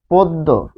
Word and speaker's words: পদ্য: তাহলে পদ্ব হবে কি পদ্য পদ্য প্রশ্ন হচ্ছে আমার আমার চেঞ্জটা চেনা আমার চেনার জন্য আমি সূত্র লিখছি হচ্ছে এটা এখানে পচ্ছে পো এটা হচ্ছে আমার সূত্র